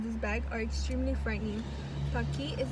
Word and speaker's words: Paqui: Paqui rhymes with hockey, is an Aztec word meaning to be happy.